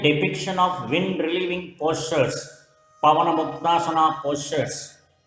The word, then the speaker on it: Pavanamuktasana: Pavanamuktasana, wing relieving pose, pronounced as Pavanamuktasana, is excellent for releasing abdominal gas, as its name suggests.